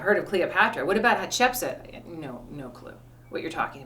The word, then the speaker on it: Hatshepsut: Yeah, it's Hatshepsut.